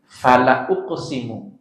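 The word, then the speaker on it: فَلَأُقْسِمُ: Kalau lamul taukid, dia bacanya tidak dipanjangin, bukan fala tapi jadi fala uqsimu.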